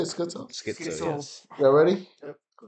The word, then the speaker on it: Skitzo: That's how you say it, Skitzo.